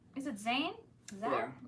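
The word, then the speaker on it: Zann: Z-A-N-N. Zan. Okay, she phonetically spelled it.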